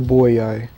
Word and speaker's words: Boii: the tribe of the boyi will never be defeated the boyy that's how you pronounce it kept on saying boy it's boy ey double ey button ready for battle